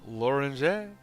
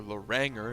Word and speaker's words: Loranger: Which of course famously would be used by Chris Huck Loranger, or Loranger if you're going to pronounce it like an American, but it's not pronounced like that.